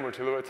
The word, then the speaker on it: Wojtulewicz: I'm Wojtulewicz.